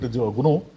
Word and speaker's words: GNU: We need to pronounce it GNU.